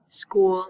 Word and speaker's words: school: the ch in school and schedule we say it like a k in American English school and schedule these are